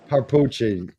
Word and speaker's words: Papucci: it's dii dii and I got papuchi papuchi and again not Italian are we yeah no nobody ever pronounces it right so okay give us a